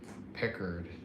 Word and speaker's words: Pickard: who's in that for the Oh, Calvin uh Pickard or Picard or however How do you pronounce his name? Pickard.